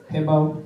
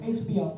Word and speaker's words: HBO: Netflix, Hulu, YouTube, Documentary Now, Hibbo. HBO. I know how it's spelled.